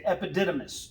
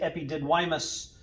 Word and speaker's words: epididymis: is called the epididymis it's the epididymis or i say epididymus so i remember how to spell it it's all eyes but